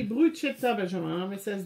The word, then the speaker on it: bruschetta: Le soir, c'est bruschetta, donc ça s'écrit B-R-U-C-H-E-2-T-A. C'est marqué bruschetta, mais ça se prononce bruschetta en anglais.